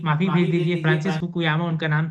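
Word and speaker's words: Fukuyama: काफी कुछ कह दिया एक ही लाइन में आपने तो, लेकिन प्रोनाउंसिएशन तो गलत था आपका। जो आपने कहा जा रहा था वो फ्रांसिस फुकुयामा है, जो फ्रांसिस लिबरल भाई से आइडियलिज्म।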